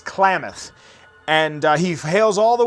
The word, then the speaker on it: Klamath: say it wrong, because I would read it as Kalamath, but I'm also probably spelling it wrong. It's Klamath.